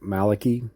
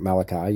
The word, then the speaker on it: Malachy: to the prophecy of St. Malake or S St. Malachi. You can pronounce it either way.